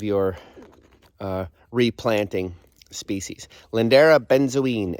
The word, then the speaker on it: benzoin: z o i n sometimes mistakenly called lindera Benjamin that's just a mispronunciation of benzine which is the actual species all right that's that